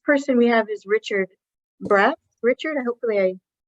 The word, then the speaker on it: Braatz: uh the next person we have is Richard brat Richard I hopefully I pronounced your last name correctly yes you did